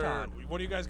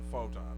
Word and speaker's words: Photon: Proton, Proton. and it is photon.